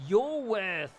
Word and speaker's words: Iworth: It's Iworth, capital I. Yes. Though pronounced your worth.